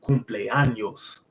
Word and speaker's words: cumpleaños: And also it's another example is like birthday in Spanish is cumpleaños. I think that N has a little squiggly mark on it, so you pronounce it like it's like nya, nya, kind of like niño or niño.